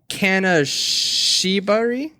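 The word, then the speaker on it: 金縛り: But so it's the Kanashibari, I believe is how you pronounce it.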